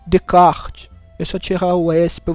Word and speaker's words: Descartes: o pessoal fala mas o essa ele não é pronunciado então é remédio de kart eu só tirar Oeste